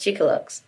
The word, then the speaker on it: Chicxulub: the one during my believe it's pronounced Chico looks Chico looks I think so okay well I could